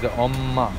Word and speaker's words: 엄마: Yeah, mom is omma.